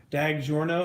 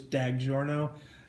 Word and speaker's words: DiGiorno: no Dada da G like dag like dad you know dag Giorno instead of does your no yeah it's not delivery its DiGiorno funny funny funny so